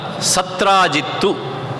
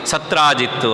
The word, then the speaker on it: ಸತ್ರಾಜಿತ್: ಅವರಲ್ಲಿ ಒಬ್ಬಾತ ಸತ್ರಾಜಿತ್ತು ಅಂತ. ಅವನ ಹೆಸರು ಸತ್ರಾಜಿತ್. ಸುಲಭವಾಗಿ ಉಚ್ಚಾರ ಮಾಡಲಿಕ್ಕಾಗಲಿ ಅಂಥೇಳಿ ಸ್ವರವನ್ನು ಸೇರಿಸಿ ಸತ್ರಾಜಿತ್ತು ಅಂತ ನಾನು ಹೇಳಿದ್ದೇನೆ.